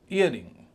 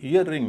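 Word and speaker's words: earring: ईयरिंग, ईयरिंग, ईयर और रिंग, ईयर पे ज़्यादा स्ट्रेस है, रिंग पर कम है। ईयरिंग में आप ध्यान दीजिए, इसमें 2 आर हैं, लेकिन उच्चारण केवल एक आर का हो रहा है। इसे ईयर रिंग नहीं कहेंगे, ईयरिंग कहेंगे।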